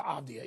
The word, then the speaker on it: Avdija: I'm not going to get into Avdija, even though I'm finally pronouncing it correctly.